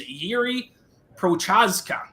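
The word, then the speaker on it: Jiří Procházka: a half mispronounced names yiri prochaska but most people just go by yuri i probably did it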